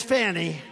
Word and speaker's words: Fani: now even though it's I believe it's spelled f a ni I to my way of thinking that's Fanny but when she became the district attorney I think she put a little emphasis on the you fonnie so corrupt fonnie